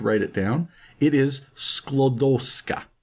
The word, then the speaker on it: Sklodowska: It's a little tricky for me to pronounce, so I had to write it down. It is Sklodowska. Sklodowska.